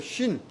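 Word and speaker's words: שין: 히브리 알파벳 쉰 알파벳 중에 이제 알파벳이 22개가 있는데 그 중에 이제 쉰이라는 거예요. 저기 쉬 발음이 나요.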